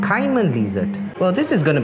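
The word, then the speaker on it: caiman lizard: showing me their butt either you would pronounce it as simon lizard or carmen lizard kaiman kaiman lizard well this is going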